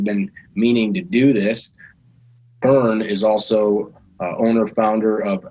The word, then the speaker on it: Verne: This is Verne, Verne, if you pronounce it like that.